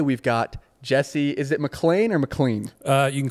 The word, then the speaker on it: McLean: John McLean from Die Hard. Yes. So he pronounces it McLean.